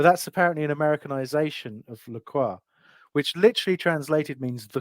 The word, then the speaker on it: Lacroix: earlier because obviously there's the water isn't there lroy but that's apparently an Americanization of laqua which literally translated means the cross you're welcome